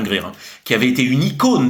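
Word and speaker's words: Grier: Pamir hein qui était oui parce que je prononce Gryer Gre je pense que c'est Pam Greir qui avait été une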